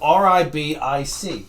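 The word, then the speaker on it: Ribić: His first name's, last name Ribic.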